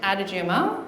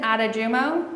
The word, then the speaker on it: Adejumo: Vincent Adajumo. Correct. Yes. Did you say his name again? Dr. Vincent Adajumo. Yes. Adajumo.